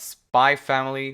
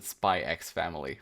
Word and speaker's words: Spy × Family: today we're talking about spy family volume two you know my brain still wants to pronounce it spy x family but i'm really making an effort not to pronounce that x but uh but yeah